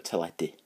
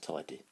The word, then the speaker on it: teledu: A lot of people like watching telly, and the telly is a teledu. So so it starts very much like telly, so it's tele, and d, which is du, which is also the Welsh word for black.